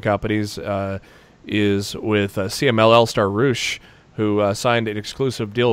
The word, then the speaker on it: Roosh: Because Roosh rhymes with douche.